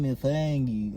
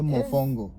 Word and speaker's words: mofongo: Don't be saying mofongo or you're adding, different vowels. No, it's mofongo.